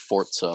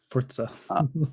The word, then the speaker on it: Forza: I don't know about it's pronounced Forza, by the way, if you didn't know. Forza. Yes, they literally tweeted it out and they were like, by the way, it's Forza, in case you were wondering, like maybe like 2 months ago.